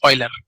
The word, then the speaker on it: Euler: as Euler it is not Euler it is Euler okay we should pronounce this properly Euler so its name of